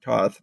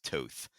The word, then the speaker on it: Toth: his name is pronounced Toth. But I don't know. It's Hungarian, apparently. Okay. Toth.